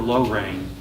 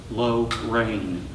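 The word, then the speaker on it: Llano: the night sky over low rain Accent on both syllables low rain loved the taste of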